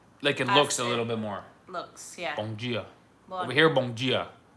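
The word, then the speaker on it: bom dia: That's one difference from Brazilian Portuguese and Portuguese is in Brazil all the D turns to G.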